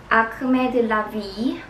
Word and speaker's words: Acme de la Vie: but I always was curious how I should pronounce this brand. But it's Acme de la Vie.